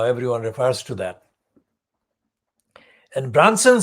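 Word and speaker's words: Brunson: And that man was called Michael Branson, not like Richard Branson, it's spelled B-R-U-N-S for sugar, O-N.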